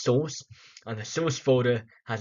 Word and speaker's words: SRC: front end folder we have the SRC folder pronounced source and the source folder has the actual codes